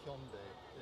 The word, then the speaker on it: Hyundai: So yeah, Hyundai is how they taught me to say it.